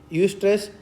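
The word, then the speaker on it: eustress: इसकी स्पेलिंग क्या आएगी? ई यू एस टी आर E double S. यू स्ट्रेस होता है अच्छा तनाव।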